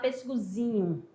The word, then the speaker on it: pêssegozinho: Eu vou falar pêssegozinho. Ó, já vai mudar a posição da sílaba tônica.